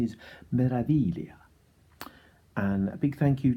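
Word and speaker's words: Meraviglia: the ship isn't called melody Clea the G is silent so thank you da for informing me that the proper pronunciation is Marathi Leah and a big thank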